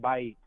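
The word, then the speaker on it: בית: Yeah, and house is actually pronounced Bait. Bait?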